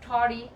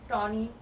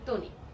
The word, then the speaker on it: Tony: যারা যারা আমাকে টরি লিখতেছিলেন তাদেরকে বলি আই এম নট টরি, আই এম টনি। ইংলিশে আমার নামের উচ্চারণটা টনি হয় এন্ড বাংলাতে হয় তনি, ঠিক আছে?